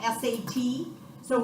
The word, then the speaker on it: sats: Saturation, guys, not stats. Stats is a math class. Okay, it's called saturation. It's spelled S-A-T. So when you're talking about O2 sats, do not say O2 stats to your people when you're giving a report. Because it's not a stat, it's a saturation.